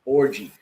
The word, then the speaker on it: Orji: This dude's last name, Christian, yes, his last name is Orji, and it's pronounced orgy.